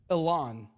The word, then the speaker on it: Elan: I'm talking about, go ahead and pronounce it for me, Andrew. Elan.